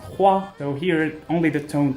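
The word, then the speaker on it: 花: And as a matter of fact, this character means flower and it's pronounced hua, so here only the tone changed a little bit.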